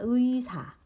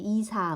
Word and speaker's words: 의사: 그리고 의로 시작하는 단어의 의, 그러니까 의사. 의사는 의사로만, 그러니까 의사로만 우리가 암기해 놓으면 돼. 의사 해야지 이사 뭐 이렇게 하면 안 된다는 거지.